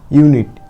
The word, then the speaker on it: ইউনিট: ইউ সমান সমান আমরা ইউ এ উচ্চারণ করব, ঠিক আছে। কোথায় সেটা? UNIT, ইউনিট। ইউ সমান সমান আমরা ইউ নিচ্ছি, আইতে আমরা হিসি, এটা আমরা শিখেছি আগের ভিডিওগুলোতে।